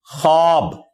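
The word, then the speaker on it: خواب: यह लफ्ज उर्दू में हम लिखते हैं ना खवाब खा व अलिफ और बा खवाब लिखा जाता है लेकिन यह पढ़ने में खवाब होता है यानी वा साइलेंट है यह पढ़ा कैसे जाएगा ख अलिफ और बा खब लेकिन लिखने में खवाब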